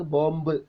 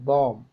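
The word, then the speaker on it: bomb: നമ്മുടെ സിനിമയിലൊക്കെ പറഞ്ഞതല്ലേ അപ്പൊ നമ്മൾ ഉച്ചരിക്കുന്ന വാക്ക് ബോംബ് എന്നാണ് തെറ്റാണ് തെറ്റാണ് മീൻസ് നാറ്റീവ് സ്പീക്കേഴ്സിന്റെ അടുത്ത് തെറ്റാണ് ബി is Silent ബോംബ് കോം we know what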